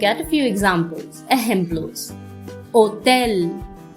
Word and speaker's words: hotel: Hotel, hotel, no sound of H.